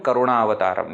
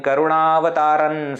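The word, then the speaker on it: करुणावतारम्: Therefore, we say Karpura Gauram Karunavataram. We don't say Karpura Gauram Karunavataran Sansar. We don't do any such kind of thing.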